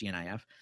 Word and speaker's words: GNIF: And directly to this, there's a forum that I linked to where a coder named, I must pronounce it GNIF, it's GNIF.